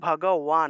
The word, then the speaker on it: ভগবান: ঠিক আছে, তাহলে ভগবান যেহেতু, তাহলে ভগবান শব্দের সংস্কৃত উচ্চারণ হবে ভগওয়ান, অর্থাৎ ওয়া ওয়া উচ্চারণটা আসবে, কারণ এখানে আকার আছে।